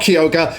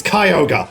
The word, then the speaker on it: Kyogre: Pokedex pronounces it Kyogre it's not kiyoga it's Kyogre oh no a better